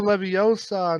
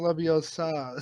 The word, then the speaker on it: Leviosa: Oh, because that's a Leviosa, not Leviosa.